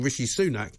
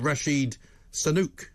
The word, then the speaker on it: Rishi Sunak: mispronounce his name so instead of saying Rishi sunak he called him Rasheed Sanuk and I'm afraid he's